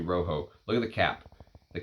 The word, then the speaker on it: Roxo: And this one's called Rojo, is how you're supposed to pronounce it. When I unboxed it, I said, is that R-O-X-O? Is it Roxo? It's actually Rojo.